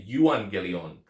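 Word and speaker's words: εὐαγγέλιον: is the Evangelion right we have that EV sound but it's actually the yuang gelion and it comes from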